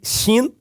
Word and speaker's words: Shin: legal o Shin que se o ponto estiver do lado direito pronuncia-se Shin e do ponto e